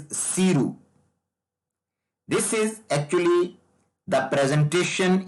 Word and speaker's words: SERU: Some people will call it as Saru, but I think the real pronunciation is Siru.